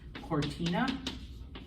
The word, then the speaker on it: cortina: The word for curtain in Spanish is cortina. Because it comes before an O, cortina, okay?